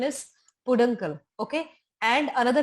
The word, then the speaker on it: peduncle: This is actually, the pronunciation is peduncle.